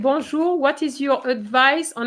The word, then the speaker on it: bonjour: example i know that some students i mean sisec would say bon jour for example or bonjour something like that banjo doesn't exist bonjour does exist so pronunciation starts at